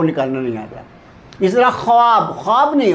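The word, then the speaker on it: خواب: एक ल बोलते हैं खवाब तो उसको लोग बोलते हैं ख्वाब वाव उसम साइलेंट है वाव को अगर पढ़ा जाए ख्वाब बोला जाए तो यह गलत उर्दू है वो ख्वाब है इसी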